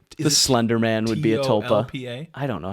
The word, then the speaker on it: tulpa: Slenderman would be a tulpa I don't know how to spell it tulpa tulpa so you're saying it sounds like there's an L in there I think there's